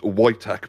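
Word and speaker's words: Wojtek: yeah so anyone his name uh is pronounced whch but it's pronoun it's spelled w o j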